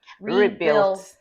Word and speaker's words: Rebuil-T: Rebuilt. Rebuilt Healthcare. Rebuilt. Oh, see, I thought it was Rebuil-T. There's a colon between the L and the T.